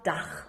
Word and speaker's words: Dach: Das erklärt, warum man Gauden Abend sagt und nicht Gauden Abend oder Dach und nicht Dack.